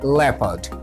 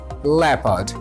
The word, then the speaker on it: leopard: The O in this leopard is silent. That's why its pronunciation is leopard, leopard and leopard.